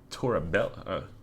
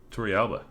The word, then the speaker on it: Torrealba: Yorvit Torabella. Torrealba. Yep, that's how you pronounce that.